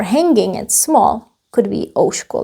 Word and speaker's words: ouško: Could be ouško like this. It comes from ucho. Ucho. You see the change. Change to sh. And we added O here as well. Ouško. Not uško, but ouško.